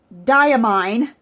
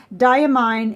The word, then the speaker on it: Diamine: lot of people that died Emine I have to relearn how to say this because I'm always saying it wrong diamine Imperial purple was was